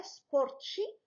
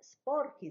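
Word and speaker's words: sporchi: هنا الحالة استثنائية أو شيء استثنائي أننا زدنا واحد الأكا باش ما نطقوها سبورتشي ويتغير النطق ديال هذيك سبوركو تولي بحالة كانت عندنا في الأصل سبورتشو. إذن سبوركي زدنا أكا.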